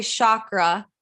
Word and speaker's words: chakra: So there was like no energy flowing in my root chakra, like at all. And can we talk about this, please? For sure. People say chakra, but it's chakra.